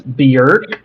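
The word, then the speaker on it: Björk: I think it's pron I looked it up apparently it's beer um but yeah like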